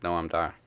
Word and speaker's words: Noam Dar: You also pronounced her name wrong. What? Alicia Fox. Alicia Fox. It's not right unless you say it like Noam Dar.